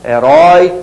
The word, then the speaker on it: herói: Olha a diferença de pronúncia. Chapéu, som estridente. Judeu, som abafado. Herói, som estridente. Afoito, mais abafado.